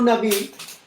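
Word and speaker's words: נביא: Y hay otro término para profeta que lo voy a colocar acá, que es el término Naví. Ese término Naví significa, se lee así, y es uno también de los términos que fue utilizado para referirse al profeta.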